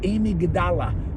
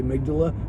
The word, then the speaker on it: amygdala: of your thumb and it's called the the Amy gadala it's actually called the amygdala but it's spelled Amidala uh the amygdala you know